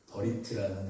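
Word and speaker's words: בְּרִית: 이 오늘 이 15장에 등장하는 이 언약이라는 단어가 그 동사로 버릿이라는 이 언약이라는 단어가 이 버릿이라는 발음이 그 히브리어 발음이 참 익숙해요. 버리트라는 단어입니다. 버리트.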